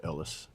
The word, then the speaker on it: Elias: It's spelled Elias, but it said Ellis.